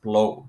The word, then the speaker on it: Bleau: Blau, it's often pronounced blue or blow or whatever. But it's actually pronounced blow. Bl o w. So just so you know, it's a French Canadian name. Sort of like Trudeau, right?